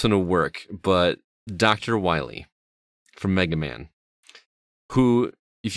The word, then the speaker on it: Wily: Although I'm pretty sure it's pronounced Dr. Wily. Yeah, okay, Dr. I'm sorry. Wily.